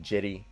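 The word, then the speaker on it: Cedi: akuro or and then jitty did i say that right somebody told me it's pronounced with the j not c jetty osman at the small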